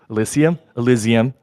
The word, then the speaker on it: Elysium: Oh, Julian, how do you pronounce this? Elysium.